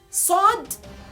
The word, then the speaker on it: ص: The thickness comes from almost end of your jaw.